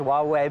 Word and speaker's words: Huawei: I guess it's pronounced Huawei, but they're targeting individual companies, saying you can't sell components to American consumers, American corporations, and now arresting people.